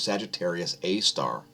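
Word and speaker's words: Sagittarius A*: core of the milky way galaxy known as sagittarius a star it's spelled like this sgr a asterisk sagittarius a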